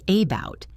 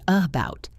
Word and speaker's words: about: For example, take the word about. We do not say about, we say about. The first sound is the schwa.